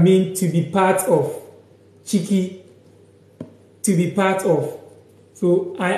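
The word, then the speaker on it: ciki: Chiki.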